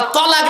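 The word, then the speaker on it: طلاق: শব্দটা কিন্তু তালাক নয়, শব্দটা তালাক নয়, শব্দটা হলো তলাক।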